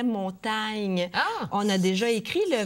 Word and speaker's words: Montaigne: et vous connaissez peut-être l'auteur français Montaigne son nom se prononçait montagne on a déjà écrit